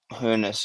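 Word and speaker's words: Hoeneß: Kirk, how do you pronounce the surname of the Stuttgart manager? Is it Hernes? Hooness, yeah. Yeah.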